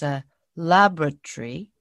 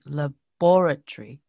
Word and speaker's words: laboratory: was the british way so i used to pronounce this word as a laboratory but it was supposed to be laboratory wow the stress is stress syllable is different